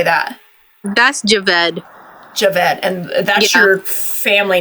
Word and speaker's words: Javed: okay sand okay it's sand ofal cuz is j a v e d how do you say that that's Javed Javed and that's your family name though like